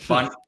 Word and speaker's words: Bundt: But if you're trying to find me on TikTok or YouTube, look up at underscore, actually, no underscore, at Bundt Cakes. Rhymes with Bundt Cakes.